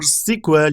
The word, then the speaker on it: SQL: databases what is SQL SQL or cql you can pronounce is strier query language